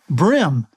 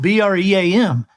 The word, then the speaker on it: bream: One is brim. You know, bluegills, brim, brim and bass, but it's spelled B-R-E-A-M. And so he says bream.